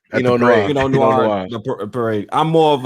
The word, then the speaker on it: Pinot Noir: How you pronounce it? Pinot Noir. Pinot Noir.